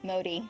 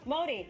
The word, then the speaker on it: Modi: Modi. Modi, I was right. My default is pronounce something in Spanish, and I can't figure out the pronunciation.